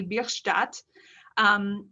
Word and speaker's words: Bierstadt: of a german teacher i want to pronounce it in the german way birch dot um as his name might imply albert bierstadt was german born he was born in 1830.